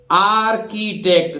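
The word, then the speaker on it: architect: इसी तरह देखिए आर्किटेक्ट, देखिए आर्किटेक्ट यहां भी एच नहीं बोलेगा, आर्किटेक्ट आप जानते हैं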